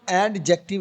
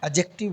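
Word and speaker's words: adjective: इसे हम एडजेक्टिव नहीं बोलेंगे। एडजेक्टिव हमजा ज़बर अ एडजेक्टिव। एडजेक्टिव बोलेंगे डी को साइलेंट करके। Continue please Maulana what is एडजेक्टिव?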